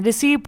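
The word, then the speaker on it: receipt: और एक रहता है रिसीट, सब कोई रिसीट पढ़ते हैं बहुत जन। ठीक है, बहुत जन रिसीट नहीं पढ़ते हैं, रिसीप्ट पढ़ते हैं, तो वो क्या होता है, रिसीट होता है।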